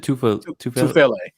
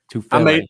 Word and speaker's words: Tufele: Did I say his name right? Is it Tufalele? Tufele.